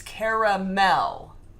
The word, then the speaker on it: caramel: There's an A in between the R and the M. It's caramel. Three syllables.